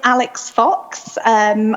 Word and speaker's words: Alix Fox: My name is Alix Fox, which usefully rhymes with Phallic Cox, as I'm someone who